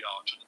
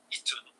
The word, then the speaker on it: Aten: It's normally pronounced as the Aten, but in truth, this hieroglyph is more like an e sometimes, or perhaps even an i. So, you could say Iten or Eten.